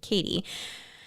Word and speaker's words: Cady: The main character, played by Lindsay Lohan, is named Katie, which has a common pronunciation, Katie, but has an uncommon spelling for an American girl's first name as Caddy in this movie.